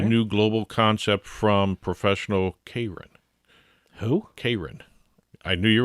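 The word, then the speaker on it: Keirin: k e i r i n but it's pronounced kin all right uh it's an Olympic sport what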